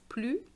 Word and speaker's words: plus: have the liaison so you don't pronounce the s when you want to use the structure the more the more in french is blue